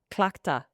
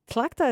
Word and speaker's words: Tlachtga: Clachta.